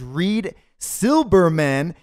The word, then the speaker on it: Reed Silberman: and you need yes because your name is Reid Silberman yeah actually he really wanted me to make